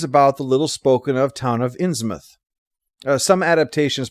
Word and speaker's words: Innsmouth: the little-spoken-of town of Innsmouth. Some adaptations pronounce it as written, Innsmouth, but since this is New England, which pronounces such places as muth, like in Plymouth, that's what I'm going to be using.